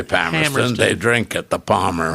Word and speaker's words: Palmerston: And if you're a local, say it right. If you're a local, you say Palmerston.